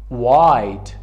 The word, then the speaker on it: white: white، white، سفید. we cannot say white، it is white.